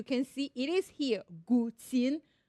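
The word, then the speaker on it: guqin: gtin as you can see it is here gtin gtin pronounce it with me gtin the word refers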